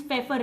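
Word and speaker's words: Pfeffer: ये टर्म दिया था स्टूडेंट्स फेफर ने, इसमें पी साइलेंट है।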